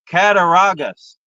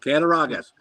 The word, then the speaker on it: Cattaraugus: Cattaraugus. That's exactly right. Cattaraugus.